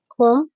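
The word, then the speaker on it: comb: यहां पर खूब में बी जो है वह प्रोनाउंस नहीं होगा। ठीक है? और इसे ओ की साउंड नहीं देंगे। इसे खो पढ़ा जाएगा। कोम योर हेयर।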